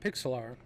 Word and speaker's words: Pixlr: the program we're going to use is called pixel r p i xlr it's spelled pixlr which is interesting right and actually